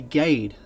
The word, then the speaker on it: Gaede: For You featuring The Gade I think that's how it's pronounced it's German and I know it